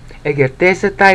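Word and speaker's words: ἐγερθήσεται: E, that's a syllable. Ger, that's the second syllable. De, that's the third syllable. It's like saying T, but you're just very light against the back of your teeth when you say the T sound. Okay? E, ger, te, se, tai.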